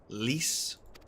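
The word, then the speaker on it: Lyse: as expected as expected it's leas isn't it that's how that's pronounced leas the alliance's decision to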